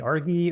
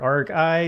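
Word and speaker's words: argi: i came across this week called uh maybe argy or arc i depending on how you want to pronounce it it's a rgi but it's an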